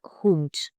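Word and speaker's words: Hund: The pronunciation of डी साउंड्स like T like हुंट common mistakes to avoid don't soften the D eight word endings it's a hard T not soft D.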